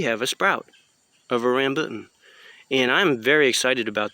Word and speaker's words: rambutan: want to pronounce that the correct pronouncement or pronunciation is rambutan now they grow well in hawaii they they